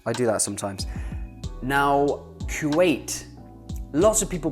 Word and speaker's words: Kuwait: The first letter of Kuwait is a K in both English and Arabic.